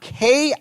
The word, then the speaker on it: Kirche: Some translates the word church, or the English word church, from the Old English and German word pronounced, or I'll spell it out, Kirche. Kirche, which would kind of be the idea of kirch, right?